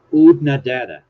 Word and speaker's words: Oodnadatta: No pictures of Odetta Cemetery. I'm pronouncing it wrong again, aren't I? Oodnadatta. Oodnadatta. Oodnadatta.